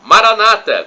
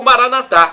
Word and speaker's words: Maranata: providenciar e do aramaico clamo Maranata como dizem os nossos irmãos separados os evangélicos ou protestantes ou Maranatha como dizemos nós católicos nós colocamos a tônica na última sílaba não importa somos todos